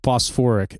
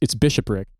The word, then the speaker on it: bishopric: He pronounced it like Bosphoric. And I was like, when you're describing about like the sort of political organization of the Catholic Church at the time, you know, talking about the Battle of Lake Phoebus, I was like, I realized what you were saying, and I was like, Joe, it's bishopric. It's bishopric.